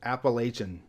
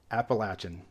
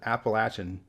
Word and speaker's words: Appalachian: controversial one for last all my life growing up in California it was Appalachian and that's the only way I knew it to be pronounced until I moved to South Carolina about 25 years ago and that's when I learned it's actually pronounced Appalachian and I do think this is more of a one is right one is wrong scenario because literally everybody that lives in this region pronounces it Appalachian there is nobody in